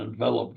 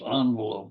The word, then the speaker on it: envelope: The fog crept in and enveloped everything on shore. Now add a silent E and it becomes envelope, or envelope if you prefer, which can surround a letter or a bill.